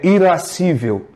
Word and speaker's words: irascível: E os bens difíceis, chamados bens árduos, o apetite que nos faz desejá-los é o apetite chamado irascível ou irascível, que vem da ira. Não é? Na pronúncia melhor, é irascível.